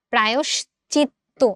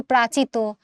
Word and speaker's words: প্রায়শ্চিত্ত: প্রায়শ্চিত্ত, তয়ে ত আছে, আমরা এটাকে ডাবল করে দিচ্ছি, অ্যান্সার সি, প্রায়শ্চিত্ত। আমরা কিন্তু প্রাচিত, প্রায়চিত, প্রাশ্চিত্ত বলি না। প্রাশ্চিত্য এক জিনিস, আর এখানে কিন্তু তালব অন্তস্থ অটা আছে, সেই অন্তস্থ অটাকে তো আমার উচ্চারণ করতে হবে, ও তো একটা স্বরধ্বনি, তাই না? অ এর মতো, প্রায়শ্চিত্ত।